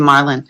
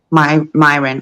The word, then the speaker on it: Myron: I'll pass it over to Marlon. Because you know what? Myron. I don't know why I keep calling you Marlon. That's your other name. Well, teach yourself to say it right. Myron.